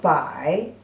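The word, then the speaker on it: 百: The pronunciation is also very close. Bai is the second tone and bai is the third tone.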